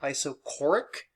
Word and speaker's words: isochoric: this is also called an iso this is pronounced isochoric process where choric means space equals space equal